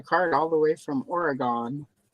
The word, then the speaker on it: Oregon: Wow, we've got a card all the way from Oregon. That's how people not from Oregon say it. Like it's a Jedi in the prequels.